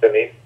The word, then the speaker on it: Dunedin: And we'll also be visiting Christchurch in Dunedin. Is that how it's pronounced? Dunedin?